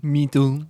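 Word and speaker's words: Menton: France little place called Minton France you probably pronounce it like Minon Minon friends but it's like close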